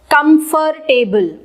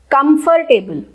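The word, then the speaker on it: comfortable: कंफर्टेबल, कंफर्टेबल। लेकिन इसकी correct pronunciation क्या है? कंफर्टेबल। बल स्पेशली हम नहीं लगाते और ये बन जाता है कंफर्टेबल, कंफर्टेबल, कंफर्टेबल, कंफर्टेबल। हम बल प्रॉपर नहीं बोलते हैं।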